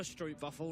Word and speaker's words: stroopwafel: I'd love a stroopwafel right now. Oh, How was my pronunciation on?